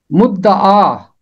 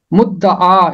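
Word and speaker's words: مدعا: 10वें ज़बूर की 17वीं आयत, मुद्दआ, मुद्दआ, इसका तलफ़ुज़ है मुद्दआ।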